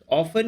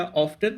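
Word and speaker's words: often: ऑफन या ऑफ्टन दोनों pronunciation correct हैं, कई बार लोग इसमें कंफ्यूज हो जाते हैं।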